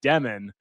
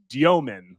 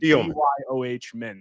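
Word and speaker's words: Dëmin: States, he just said Demon because he thought that it was too complicated for us dumb Americans to be able to pronounce international names correctly. But it's Diomin, like Dyoh Min.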